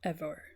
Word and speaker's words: Emer: The wooing of Emer also pronounced Evore and Kuhalland's training in arms with Scaha also pronounced Scarthok translation by Kuno Mayor.